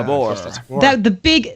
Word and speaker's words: Ghosts of Tabor: Tabor, am I pronouncing that right? Tabor? Oh, right? yeah, Tabor.